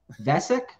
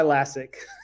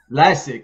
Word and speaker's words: Lascsak: and please forgive me if i said your name wrong but vessek that was way off that's uh lasik classic classic classic that was best but listen